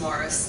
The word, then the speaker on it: Maurice: This is an aerial photograph taken of the Morris River, spelled Maurice, but pronounced Morris, down in Cumberland County.